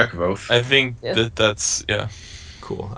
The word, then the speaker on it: Kvothe: My name is Kvothe.